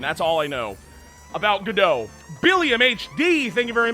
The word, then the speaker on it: Godot: I thought it was pronounced Godot.